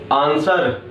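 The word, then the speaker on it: answer: H word silent है, आंसर में W word silent है।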